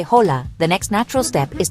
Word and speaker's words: Hola: Hola. You can use it any time of day in any situation whether it's formal or casual. The pronunciation is simple. Hola. Notice the h is silent.